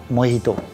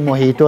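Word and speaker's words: mojito: हम बना रहे हैं मोहितो ओके इसका जो स्पेलिंग है वो जे से लिखा जाता है लेकिन इसको पढ़ते मोहितो है हां ये जो है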